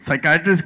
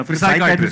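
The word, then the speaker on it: psychiatrist: But Javed अह यह साइकेट्रिस्ट की बात अगर किया इसमें तो व्हाई इज द P silent in साइकेट्रिस्ट? व्हाई द P silent इन वो साइकेट्रिस्ट में पी है पहला पिसाइट्रिस्ट होता है।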